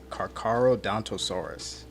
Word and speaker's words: Carcharodontosaurus: It's just some people mispronounce it. It's Carcharodontosaurus.